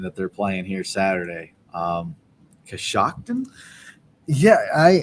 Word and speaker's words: Coshocton: Coshocton? Yeah, Is that how you say that? That's how it phonetically goes. Coshocton.